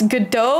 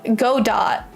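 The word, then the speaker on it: Godot: To be honest, uh I still don't know how to pronounce if it's GDO or go do DOT cuz my friend just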